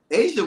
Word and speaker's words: Aja: You know, I look at Asia Wilson, and I talked about this on my hot seat. Okay. No, Tony. It's spelled AJA, not like the country.